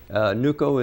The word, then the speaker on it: NUCO: As NUCO, that's how you pronounce it? NUCO is the acronym for Nuisance Wildlife Control Operator.